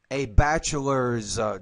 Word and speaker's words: bachelor's: Student, I have a bachelor diploma and bachelor's diploma. So don't forget the S on the end of that word, and you want to pronounce it as a Z because it comes after a voice consonant.